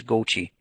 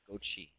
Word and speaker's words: Gauthier: And just quickly, my last name pronunciation is Gochi. Gochi, thank you.